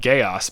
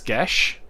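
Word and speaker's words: Geas: never get to cast which i've always said gaos but i guess it's gesh i guess show yeah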